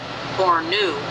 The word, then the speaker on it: Borno: Africa and just beneath these two cities as Borno pronounced Bor new Nigeria which is the land of Noah now